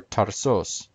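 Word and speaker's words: Ταρσός: ephesus argus is aragos tarsus is tarsefs or tarzos and so on the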